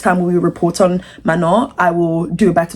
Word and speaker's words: Manon: But I know it is Mano. I I know that she gets frustrated sometimes and people don't pronounce her name right.